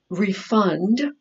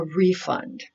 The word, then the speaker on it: refund: something the next refund those two pronunciations for this word if it's a verb we say reef refund but if it's a noun you're going to get something in your hand that's a refund so it's going to